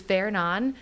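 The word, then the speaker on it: Fernand: So sometimes you'll see a name that maybe is not pronounced the same way in the United States.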